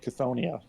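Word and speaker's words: Chthonia: Well, my American English, I'm going to say Decide the Fate of Chthoniya. Chthoniya? With a K.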